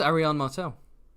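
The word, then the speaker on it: Arianne Martell: tyana no how how the hell do you pronounce that that's Arion Martel oh okay I thought that was uh you're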